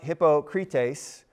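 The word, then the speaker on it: hypokrites: TV here because I love this word it's pronounced hypocrite ace and it means really close to our word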